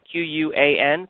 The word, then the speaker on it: Quan: And then we have a Microsoft Surface laptop going out to, and I'm going to spell this out so I don't mispronounce it, Q-U-A-N, Quan, from Texas.